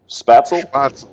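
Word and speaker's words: Spätzle: Fries, Spertzel. How do you say that? Spatzel.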